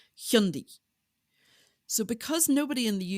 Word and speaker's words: Hyundai: certain car brand um which we all lovingly call Hyundai but when people go to voice search it it brings up things like high and pie or Highland guy and stuff like that because the proper pronunciation is hundi so because nobody in